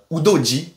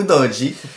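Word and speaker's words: Udogie: de de fulam et udoi udoji on va prononcer italienne ou udi donc le choix entre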